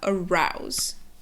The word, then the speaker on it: arouse: sound, and the next thing is that the S makes a Z sound. So you have arouse.